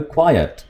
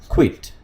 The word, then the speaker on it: quiet: इस वर्ड को प्रोनाउंस करेंगे quiet. Quiet ये है, ठीक है? Quiet ये है और इसको बोलते हैं quit. ओके? क्विट जैसे कोई चीज़ छोड़ना, जैसे स्मोकिंग क्विट करना.